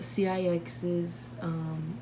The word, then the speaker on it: CIX: I just do it on video because people are like, it's pronounced CIX. I'm like, I know, but I call them 6 because why would I pronounce every letter when I can just say 6?